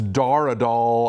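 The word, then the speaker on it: Dar Adal: way so my apologies it's Dara doll I don't know why I was calling him doll but whatever you know um uh it's Dar a doll dar Andrew doll um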